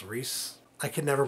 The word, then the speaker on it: Rhys: his name I'm sorry it's probably even not even reisen's Rhys right it's Rhys I can never pronounce